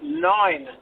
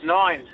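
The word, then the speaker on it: nein: It is actually nine. Um, the German equivalent of no is nine.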